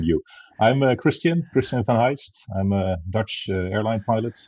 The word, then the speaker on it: van Heijst: I don't blame you I'm a Christian President Van Heist I'm a Dutch airline pilot I'm now 39